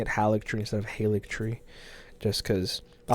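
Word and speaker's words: Haligtree: I'll start pronouncing it Alex turning instead of halik tree just because I like pronouncing things right and I've seen some people pronounce it Haley tree but most people pronounce it Alex tree and I just when I'm looking at how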